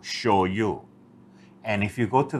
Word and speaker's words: shoyu: Gloria show you first how come they say show you instead of because that's the way I will show you is spelt on the bottle I noticed that Sh oh why you show you and if you go